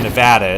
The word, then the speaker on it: Nevada: there it's like uh it's like people from Nevada it's like it's Nevada not Nevada you don't you don't say it you're not saying it right if you don't say it right everybody's gonna look at you like oh you're a tourist okay uh I personally